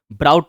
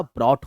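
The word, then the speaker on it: brought: Third form, taut नहीं होता टॉट होता है, ब्राउट नहीं होता ब्रॉट होता है, CATCH कैच का काउट नहीं होता कॉट होता है, और BY बाय का बाउट नहीं होता बॉट होता है।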